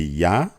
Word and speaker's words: Yah: u a h so the yod and the he which makes a y sound and an H sound will be yah the same as in